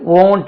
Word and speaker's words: won't: இருக்காங்கன்னு கேட்டா தெரியல பாருங்க இதுக்கு உச்சரிப்பு வந்து வோன்ட் இல்ல வோன்ட் வோன்ட் வோன்ட் i will write a